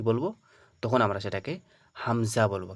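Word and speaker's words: همزة: এবার এই আলিফের উপরে যখন যাবার পড়বো আমরা তখন কিন্তু এটাকে আর আলিফ আমরা উচ্চারণ করবো না। এটাকে কি বলব? তখন এটাকে বলব হামজা। পুরোটা কি হয়ে যাবে? হামজা হয়ে যাবে। এটাকে কিন্তু আর আলিফ বলা যাবে না।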